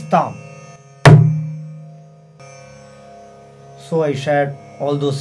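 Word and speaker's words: tham: There is a sound called tam, T-H-A-M, which is the combination of tum and num. Tum, num. For thom, you have to put both thum and num together. This is thom.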